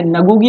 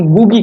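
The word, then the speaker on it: Ngũgĩ: यहाँ पर N silent रहता है दोस्तों, इसीलिए हम इसे नगुगी नहीं कहते बल्कि गुगी कहते हैं।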